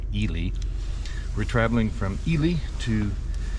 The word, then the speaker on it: Ely: italy nevada and yes i pronounced it wrong in a previous video not eli ely we're traveling from ely